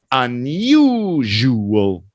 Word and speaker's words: unusual: And the stress is on you. Unusual.